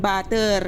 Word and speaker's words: butter: For example, kapag naghahanap ka ng butter dito, huwag mong sasabihin butter kundi butter. Ganon. Butter, butter.